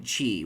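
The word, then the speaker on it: qi: Chinese terms and names the Q despite being spelled with a Q a lot of things in the Chinese are pronounced with the CH so in this game key pardon me Chi is spelled q i so I see that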